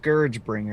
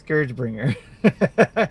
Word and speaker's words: ScourgeBringer: It is ScourgeBringer. Scourge. I know I keep saying it wrong. It's ScourgeBringer.